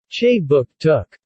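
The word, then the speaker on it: Kjipuktuk: Jipuktuk, pronounced Che Book Took.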